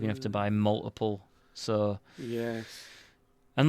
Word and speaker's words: YI: these camera is called ye y I don't know if I'm saying it right we called them ye but it's spelled y i i i maybe they were